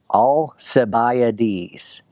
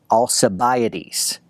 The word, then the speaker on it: Alcibiades: Alcibiades. Alcibiades.